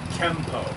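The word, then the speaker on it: Kenpo: right what's your pronouns the letters n in japanese is pronounced with the m sound it's written it's supposed to be m n and pronounced m the kanji is the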